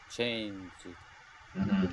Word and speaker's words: changed: It has the d at the end, so we're gonna say it like changed. Changed, So one more time, changed.